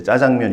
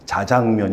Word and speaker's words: 자장면: 봤을 때 국어 지문에 저희는 이제 짜장면 이렇게 읽었는데, 해주시는 국어 선생님이 자장면 이렇게 정확하게 발음을 해주셨는데, 그때 기억이 많이 나고,